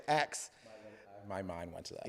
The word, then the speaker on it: Acts: When I was small, I got teased because I would say Acts. My mind went to that. Yeah, Acts on Stage. So it's not AXE, it's ACTS. Acts on Stage.